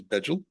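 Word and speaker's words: bejel: It passed through Asia to North America, spinning off a mutation, which I was taught to pronounce as Beetle, but some people pronounce it as Begel en route.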